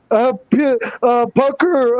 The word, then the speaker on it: puka: Active shooter says puka is pronounced as pucker.